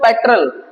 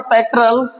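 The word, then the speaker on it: petrol: The price of पेट्रोल has come down. हमारे हिंदी में बोलने वाले इसको प्रोनाउंस पेट्रोल करते हैं जो कि करेक्ट नहीं है। इंग्लिश में पेट्रोल बोला जाएगा। पेट्रल पेट्रल क्या पढ़ेंगे? पेट्रल the price of पेट्रोल है कम डाउन।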